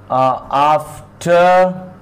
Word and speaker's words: after: After here. This one is the phonetic transcription of the word after. R is silent here.